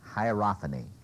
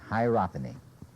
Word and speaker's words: hierophany: about the sense of uh here's the word hierophany hierophany can anybody spell it h i e r o p h